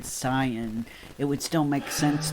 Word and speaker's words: Saiyan: But yeah, I feel like they pronounced it Saiyan because to them S-A-I was say.